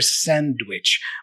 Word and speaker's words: sandwich: So the first time he asks the question, yes, we hear a clear sandwich. But then you're going to hear just sandwich, without the D.